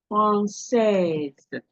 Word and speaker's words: française: Française.